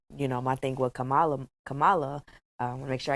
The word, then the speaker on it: Kamala: No, it's Kamala. It's Kamala. Kamala. Yeah. And then she's black or Indian. We have to respect her name. We have to say it correct.